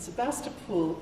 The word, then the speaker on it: Sebastopol: orchards of Sebastopol and Sebastopol is said differently from how it is spelled probably already done this it only has one o at the end before the L but everybody who lives there says pool instead of pole and I have no